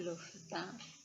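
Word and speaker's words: L'Hôpital: Nah, tulisannya de hospital, tapi membacanya de L'Hopital.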